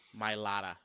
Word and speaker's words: Mailata: How do you pronounce the name? Mailata? Jordan Mailata. Mailata. Right. Mailata.